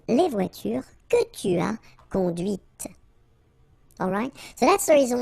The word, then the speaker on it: conduite: C'est la voiture que tu as conduite. And that's when you hear the difference between conduit, because remember, final T is not pronounced, conduit, here, and then the feminine, conduite.